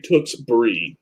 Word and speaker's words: Tewksbury: beer yeah well whatever the reps from Massachusetts came down to talk to us on how to pronounce that I'm just saying how they pronounced it to us oops Brees not how we pronounce that thing they say Tewksbury that's how they said we were supposed to say in area now I